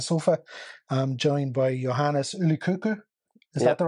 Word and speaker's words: Yli-Kokko: Yli-Kokko, from the man himself, Yli-Kokko.